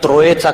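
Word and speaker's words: Troyes: त्या कराराचे नाव आहे त्रोएचा करार त्रोए या शब्दाचा spelling T आर ओ वाय इ एस आहे फ्रेंच मध्ये हे शेवटचे जे एस असते त्याचा उच्चार येत नाही तो पुन्हा गोल येतो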